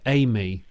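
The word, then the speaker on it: AI:ME: They pronounce it Amy.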